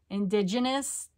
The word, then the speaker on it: indigenous: asking price plus shipping indigenous with a soft G indigenous did I say it